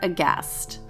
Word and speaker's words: aghast: Instagram at cast underscore aghast remember there's a silent h d